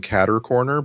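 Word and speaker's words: catty-corner: I'm old enough to remember the old folks saying cattercorner because that's the that's the actual French word for well, their American pronunciation of the French word for diagonal.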